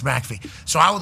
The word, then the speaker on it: McAfee: It's like, well, my name could be pronounced Macaffy, you know, and it's like, hey, it's Mackey.